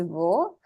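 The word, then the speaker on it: を: But I told you all to remember it as wo, but it's also o.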